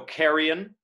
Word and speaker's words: carrion: know you're off right so carrion elides to two carrion that i essentially becomes a y in carrion flies then romeo they may